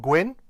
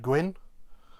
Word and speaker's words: gwyn: push then we've got gwyn should be fairly straightforward to most english speakers as it's pronounced um the same way as you might pronounce the name gwyn as in fred gwynne or gwyneth paltrow so that's just gwyn